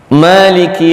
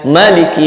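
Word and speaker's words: مالك: Tapi qiraat kita, qiraat Hafs riwayat Asim yang biasa kita ikuti ketika membaca Al-Quran itu pakai mad, maka bacanya ma. Jadi dipanjangkan satu alif dua harkat ya.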